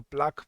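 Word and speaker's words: plaque: याद रखना, तो उसको प्लाक कहा जाता है, PLAQE, उसको प्लाक प्रोनाउंस करते हैं।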